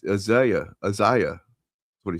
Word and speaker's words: Isaiah: Yes, he mispronounced Isa. Exactly. I What do you say? Uh, Isaiah.